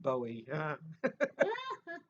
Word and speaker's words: Bowie: then we'd say you don't know anything it's pronounced bowie i'll tell you something funny about um i